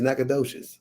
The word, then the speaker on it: Nacogdoches: Is that how you pronounce it? Yeah, it's Nacogdoches.